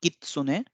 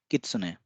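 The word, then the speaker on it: きつね: you should note that the Su sound will be a little lighter so it's not Kitsune but it's be Kitsune mouth grass or weed Kushi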